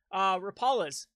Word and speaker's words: Rapalas: Rapalas, or Rapalas is the correct way to pronounce it. Rapalas, 100% Rapalas.